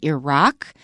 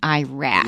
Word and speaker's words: Iraq: The educated pronunciation is Iran and Iraq. But my impression is if you listen to soldiers coming back from those areas, they say Iran and Iraq.